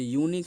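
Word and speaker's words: unique: जो यूनिक है ना, यूनिक, यूनिक बताइए, यू का जो प्रोनाउंसिएशन है वो यो है, अब यो है तो वो क्या है, कॉन्सोनेंट प्रोनाउंसिएशन, दो तरीका का प्रोनाउंसिएशन होता है, कॉन्सोनेंट एंड वोवेल।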